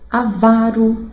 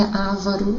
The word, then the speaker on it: avaro: Avaro, tá? E não é ávaro, avaro.